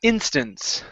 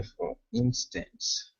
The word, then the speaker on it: instance: that last word is instance the stress is at the beginning ah okay for instance for instance good all